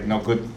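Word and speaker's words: 五: Go, go, go. 555. So we pronounce like, Japan, we count numbers. 1, 2, 3, 4, 5. So 5 is like we pronounce Japanese like go.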